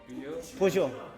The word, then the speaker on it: Peugeot: Bacanya gimana Nda? Peugeot.